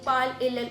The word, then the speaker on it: parles: So, in case of je parle, tu parles, on parle, the pronunciation of parle is exactly the same. In spite of the fact that in tu parles there is ES added at the end, but it sounds like parle, the S is not really pronounced.